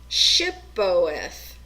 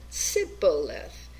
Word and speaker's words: Shibboleth: When the man would say no, they said to him, then say, Shibboleth. And he said, Sibboleth, for he could not pronounce it right.